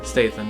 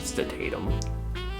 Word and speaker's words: Statham: Statham, yes. Not Statham. Whatever the fuck you said.